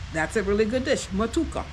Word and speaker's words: Matooke: Okay, so that's a really good dish, matuka. So might not have the correct pronunciation, all right, but it's spelled Matooke. Okay, it's a good dish.